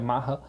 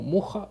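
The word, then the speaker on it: Macha: Eu sei que a pronúncia dela, do nome dela é Maha, apesar de que, sinceramente, eu já vi pessoas pronunciando o nome dela como Murra e eu acho isso mais assertivo.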